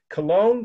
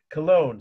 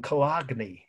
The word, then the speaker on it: Cologne: would say oh that's that wonderful cathedral in kagy kagy Germany okay if that helps you to spell it yeah know it's of course you can